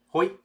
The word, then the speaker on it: Hoi: How do you say hello in Dutch? Hoi. Hoi.